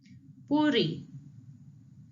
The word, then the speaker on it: puri: Puri, puri, puri, puri. You can say it just like the D if the double R is a little bit harder to pronunciate, but puri, puri.